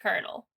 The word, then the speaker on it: colonel: in the fact that even though it is spelled like colonel it was pronounced kernel i never really understood